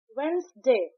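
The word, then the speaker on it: Wednesday: एल आई एस ई N listen तो यहां पे टी साइलेंट है। वेडनेसडे वेडनेसडे की स्पेलिंग है डब्ल्यू ई डी एन ई एस टी ए वाई बट हम इसे प्रोनाउंस करते हैं वेडनेसडे।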